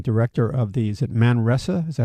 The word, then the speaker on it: Manresa: Tobias Winwright, he's an associate professor of theological ethics, Department of Theological Studies, and director of the, is it Manresa? Is that how you say it? Manresa, yeah.